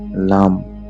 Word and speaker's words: लं: मूलाधार का बीज बनता है लाम।